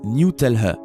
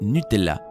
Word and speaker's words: Nutella: nutella aux états unis sur la page web nutella il est prononcé newtel à ce qui a rendu les gens dingues sans compter les disputes ironique qui ont suivi cependant dans d'autres parties du monde la pâte à tartiner est appelée nutella selon ferrero l'entreprise qui